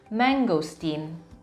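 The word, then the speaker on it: mangosteen: Indonesia adalah bahasa Inggris mangostin mangostin walaupun hanya ada satu huruf g disitu Tapi bacanya tetap menggosok Tin pengucapannya tetap menggosok Cin cake manis berikutnya kita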